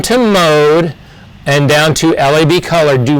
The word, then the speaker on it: Lab: It's not comic, it's not URB, and it's not lab. It's LAB.